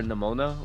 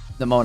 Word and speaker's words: Nemona: Until you draw your Nemona. Is that what her name is? Nemona, I think it is. I think that's how you say it. Sounds like pneumonia.